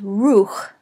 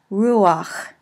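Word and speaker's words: רוּחַ: So, for example, we would expect in normal situations that this word here would be pronounced ruch. But because it ends with a chet, and the chets like A vowels, an A vowel is placed underneath but pronounced in front of it. So, ruach.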